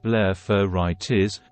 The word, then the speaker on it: blepharitis: what is blepharitis blepharitis pronounced blepharitis means inflammation of the eyelid the edges of